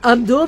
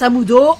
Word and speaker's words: Amdo: Amudo. Enfin Amdo, mais il prononce Amudo.